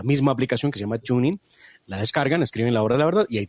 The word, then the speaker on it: TuneIn: descarga una aplicación que se llama tuning se escribe TuneIn TuneIn y la al descargarla